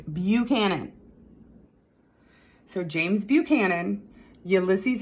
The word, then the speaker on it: Buchanan: that were born under taurus james buchanan not buckhannon okay it's not pronounced buckhannon okay i don't care if you're in buckhannon county virginia it's buchanan so james buchanan ulysses s grant he was